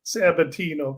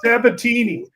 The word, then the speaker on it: Sabatini: How do you get Sabatino? Come on now. Jeffrey Sabatini.